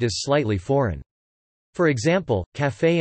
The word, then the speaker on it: café: For example, café and pâté both have a pronounced final e, which would otherwise be silent under the normal English pronunciation rules. However, café is now sometimes facetiously pronounced calf.